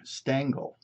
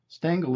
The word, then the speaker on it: Stangl: this is a stangle ceramic it's flower vase for single rose bud single Bloom see the hole for the stem stangle is spelled s a n g l these